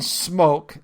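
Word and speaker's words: Smoak: Uh Evan Smoke, that's spelled S M O A K, is a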